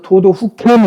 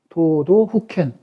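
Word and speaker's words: 都道府県: 저거를 그래서 도도 후켄 이렇게 발음합니다. 도도 후켄.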